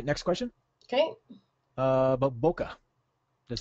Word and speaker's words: bokeh: but that's okay it's it's actually Boke um it's a a Japanese word which means out of